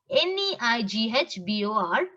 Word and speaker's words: neighbor: Which letter is silent in this? Just concentrate. Neighbor, daughter. It's like doctor. GH is silent.